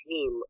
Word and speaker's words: heme: It's not actually bleeding blood, but it uses an ingredient called heme, and that's like, heme rhymes with meme.